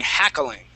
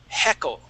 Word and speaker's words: heckle: Here it sounded like you used ha, saying hackling. Okay. Now to hackle is different than heckle. Okay. This has a short E. Heckle.